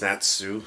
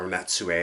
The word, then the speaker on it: Natsu: that the main character, his name is Natsu, or Natsue, I think is how it's pronounced. I'm going to call him Natsue just because the U there, I think, would make that actually pronounce that way.